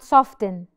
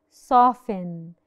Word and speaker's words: soften: t bit silence often soften not soften thin no we don't say that we say soften soften and if your